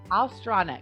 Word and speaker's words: Ostronic: pronounce your last name ostronic alstronic okay did i say it right yeah just with the l oh strong ostratic yes